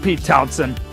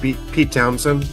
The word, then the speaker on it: Pete Townshend: Yeah, or it's uh it's pronounced Pete Townshend. Oh, it's pronounced Pete Townshend. Okay. Yep. I don't know why the H is in there. That's just how it is.